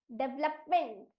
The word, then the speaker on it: development: एंड the right answer is MENT का उच्चारण होता है मेंट, DE का उच्चारण होगा डे, VE का उच्चारण होगा व, LOP लप, डेवलपमेंट।